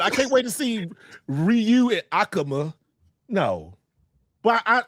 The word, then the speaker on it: Ryu: It's kind of like how people were saying Rayu over the years when it's Ryu.